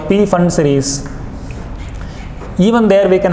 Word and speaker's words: Pfund: Similarly, the last spectral series is called the Pfund series, or otherwise Pfund series, where we can say P can be kept silent in our pronunciation.